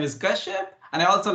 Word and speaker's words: Kashyap: My first name is easy to pronounce. Last name is Kashyap.